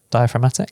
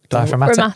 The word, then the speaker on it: diaphragmatic: which is He probably basically didn't pronounce the G, but yeah. Really? Yeah. Diaphragmatic?